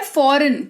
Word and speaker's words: foreign: शब्द जी के तुरंत बाद अगर एन लगा हुआ आपको दिखता है तो उस केस में जी जो है वो साइलेंट हो जाता है, ठीक है।